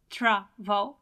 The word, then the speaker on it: travel: it's a long verb Trav it has more than one syllable but at the same time the stress is on the first syllable well it doesn't matter